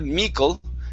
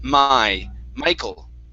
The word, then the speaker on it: Michael: michael esther okay now instead of mikkel this is my michael my michael okay all right so it's